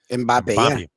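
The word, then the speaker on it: Mbappé: Mbappe.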